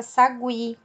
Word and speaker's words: sagui: antigas antes de 2009 palavras aparecem muitas vezes escritas com trema como pinguim linguiça sagui hoje em dia nós não faz o escrevemos mais com a tema apesar de sabemos que a pronúncia continua de gwi então resumindo e recapitulando